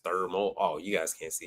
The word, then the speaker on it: Thermo: I'm talking about and that ain't how you say it it's thermal oh you guys can't